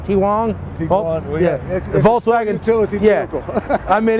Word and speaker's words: Tiguan: i think it's a i think it's pronounced t-rong t-wong volkswagen utility vehicle i mean it's a sports utility vehicle but me knowing volkswagen this 2009 volkswagen tiguan it's a tiguan that's what it is big one yeah got